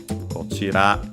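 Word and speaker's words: こちら: I'll quickly check it just to be sure. Kochira, yes, unaccented. Kochi, accented on the last syllable, so those are the exceptions.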